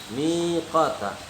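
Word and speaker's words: ميقاتا: Jadi dibacanya miqata, miqata, panjang ya, panjang.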